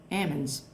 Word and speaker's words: almonds: And one of the major crops grown in the Central Valley is almonds. And people there pronounce almonds ammonds.